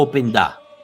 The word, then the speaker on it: Openda: McKennie, Kostic, Adzic, Vlahovic, Openda. ¿Es Openda o Openda? Openda. Es Luis Openda. Openda, no. ok. Él lo pronunció y dijo Luis Openda.